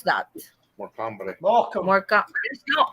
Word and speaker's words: Morecambe: How do you pronounce that? More company. Morecambe.